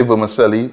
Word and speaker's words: vermicelli: is parch in the vermicelli we say vermicelli but the actual pronunciation is vermicelli it is italian this is a pasta